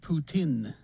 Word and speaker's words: poutine: in uh in eastern in eastern canada it's pronounced putin i'm just getting texts about poutine now says now i